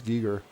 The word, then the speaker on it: Giger: But that's how I knew him until you told me it's Giger, which is what it would be pronounced in Serbian as well.